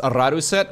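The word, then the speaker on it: Rådhuset: It's actually pronounced Radhuset with a little circle on the letter A.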